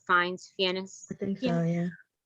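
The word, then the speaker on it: Fiennes: ralph fines oh yeah that's how you say his name finds fianna thank you oh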